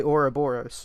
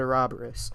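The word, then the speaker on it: Ouroboros: in other countries related to britain they say oroboros not a robberis so i don't know why they say a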